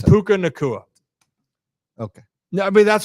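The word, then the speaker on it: Puka Nacua: mine was just technology I'm so pissed it's puka nakua okay no I mean that's what I'm saying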